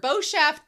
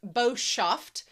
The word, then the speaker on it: Boshaft: Uh Boshaft liquor, Boshaft pronounced Boshauft, is nasty, wicked, spiteful, or evil.